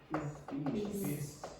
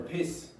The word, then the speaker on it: peace: Also, how do you pronounce this word? Peace. Peace. Thisace. Now, if you said you went to Thailand for piss, that's slightly different.